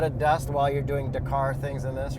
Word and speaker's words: Dakar: dust while you're doing Dar things in this right absolutely D car you're actually not supposed to pronounce the art okay so you should